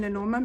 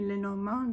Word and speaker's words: Lenormand: I keep on saying Lenormand because that's the English way of pronouncing it, but it's actually Lenormand because it's a French system.